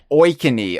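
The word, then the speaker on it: Oikonny: Andrew is it is it O how how do you pronounce his surname? Oeny.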